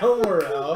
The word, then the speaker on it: Almorel: goats and giants, frost giants, to the city of Almorel. Almorel. That's how the locals pronounce it.